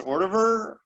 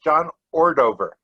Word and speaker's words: Ordover: Is that pronounced Ordover? Ordover. Ordover, okay. No, that's not right. It's John Ordover.